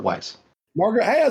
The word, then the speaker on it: Weis: Bruce, is it Weiss or Weiss? I always say Weiss, but I think I say it wrong. It's Margaret Weiss.